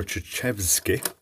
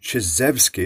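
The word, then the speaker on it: Chizhevsky: An ionizer is a device that was originally invented by Alexander Chechevsky. That's wrong. Chizevsky is the better pronunciation.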